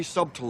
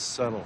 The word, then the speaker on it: subtle: we got to be subtool about it ha ha the word is pronounced subtle Harry it's a silent B what was that for